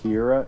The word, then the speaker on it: Kira: they called him Kira, it was supposed to be the Japanese pronunciation of killer. Oh yeah, Interesting. that's true. Like, it's not like a name. I thought it was Kira. just the name Kira. Kira. It's really just the Japanese Yeah, pronunciation. killer. Yeah.